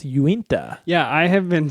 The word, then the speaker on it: Uinta: Yeah, when I first saw it, I first read it as Unita, but you're right, it's Uinta.